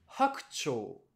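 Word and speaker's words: 白鳥: Et du coup, ce mot cygne, je vais le prononcer hakucho.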